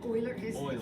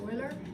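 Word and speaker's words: Euler: is's number what's number something it's actually called Oiler pronounced Oiler but yes e e starts with an E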